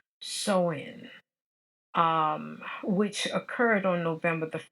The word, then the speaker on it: Samhain: It was a Celtic celebration of the new year called Samhain, Samhain, but I think it's pronounced Soin, which occurred on November the 1st.